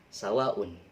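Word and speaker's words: سواء: Kemudian sawaun, sawah. Sawah ya, sawah. Jadi sawaun dibaca panjang karena ini mad wajib mutasil, 5 ketukan atau 5 harokat.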